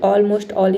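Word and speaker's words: almost all: ऑलमोस्ट ऑल। ये इस rule का एक्सेप्शन है। ठीक है? ऑलमोस्ट ऑल। इसमें हम एल को प्रोनाउंस करते हैं।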